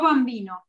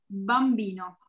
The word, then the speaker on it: bambino: Tiene que escucharse bambino. No bambino, bambino. ¿Ok? Fuerte. Esa es la única diferencia. Si tienen un apellido o nombre con B larga, acuérdense de pronunciarla fuerte.